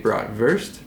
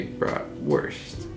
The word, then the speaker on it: bratwurst: the word kindergarten or bratwurst now granted in german you would say broad versed because the w has like the english v sound and in american we say bra worst but it's like the